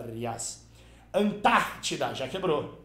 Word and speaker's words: Antártida: Antártida é proparoxítona. É proparoxítono porque a antepenúltima sílaba é a tônica.